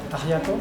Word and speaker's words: ajiaco: Ajiaco.